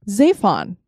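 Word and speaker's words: צפון: It is so intermingled with north that the Hebrew word for north is Zaphon. So Mount Zaphon is spelled Zephon.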